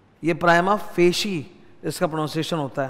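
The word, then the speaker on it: prima facie: फेशी evidence of दी प्राइमा फेशी pronounce होता है कुछ लोगों को मैंने देखा है व प्रोनंसिएशन में ध्यान देते नहीं है उनको जभी भी कोई इस तरह का इटली साइज वर्ड मिलता है ना मतलब ये तो ग्रीक लैटिन टाइप वर्ड है ना वो अपने हिसाब से थोड़ा टेढ़ा बाका करके प्रोनाउंस कर देते हैं और एकदम दिमाग सटका देते हैं यह प्राइमा फेई नहीं होता है तुम बड़े-बड़े लोगों को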